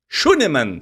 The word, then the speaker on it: Schünemann: Mas que pronúncia, hein? Tá muito que achou? bem. Não, até ia te perguntar, é Schönemann? Schönemann.